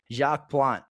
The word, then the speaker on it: Jacques Plante: Yeah, Jacques Jacques Plante is is that is the pronunciation.